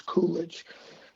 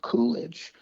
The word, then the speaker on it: Qoollegge: It's called Coolidge, and that's spelled Qoollegge. So it's like a play on the word college, but it's Coolidge. And Coolidge is the sponsor of the website.